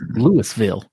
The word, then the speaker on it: Louisville: Expos decision in Louisville it's pronounced day budded and it's Louisville question number eight Thomas